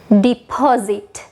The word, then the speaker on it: deposit: අපි deposit ලියද්දී spellings ගත්තාම EPOSIT. එතන S තමයි තියෙන්නේ. අර sound එක වගේ deposit කියලා තමයි ඔයාලට හිතෙන්නේ. හැබැයි ඇත්තටම මේක pronounce වෙද්දී ඔයාලා dictionary එකේ බලන්න අර Z sound එකක් එක තමයි pronounce වෙන්නේ. හරියට මේ විදිහට. Deposit, zit, deposit, deposit.